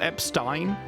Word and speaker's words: Epstein: Since Professor Epstein invented Apparently it's supposed to be pronounced Epstein, like Einstein.